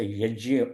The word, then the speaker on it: यज्ञ: और वैसे इसका संस्कृत भाषा की दृष्टि से मैं करेक्ट प्रोनाउंसिएशन यज्ञ यज्ञ यज्ञ होना चाहिए, पर वो हिंदी में आते आते वो यज्ञ हो गया।